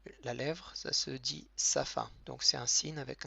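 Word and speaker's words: שפה: C'est un he muet. C'est un peu comme le e muet en français.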